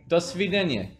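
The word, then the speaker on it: до свидания: it goodbye is Sweden ah don't be Daniel dosvedanya don't get any easy everyone everyone remembers now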